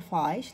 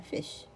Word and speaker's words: fish: الاي شورت مش لونج ما نقول فايش لا فيش فيش شورت قصيره.